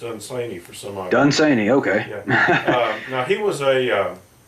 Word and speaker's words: Dunsany: Byron yes you're right Lord Dunsany it's actually pronounced insane you for so long done seining okay now he was a he was a